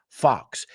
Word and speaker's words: fox: Fox ah it's musical Fox it's interesting because it's an o that sounds like an a fox e facts so the first word